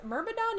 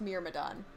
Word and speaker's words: Myrmidon: insist on saying miramadans mermadon is a word and it's not pronounced mere madonne yeah that's weird they're